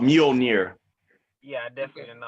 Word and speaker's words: Mjolnir: It's called Mjolnir. Yeah, I definitely didn't know how to pronounce it. Mjolnir.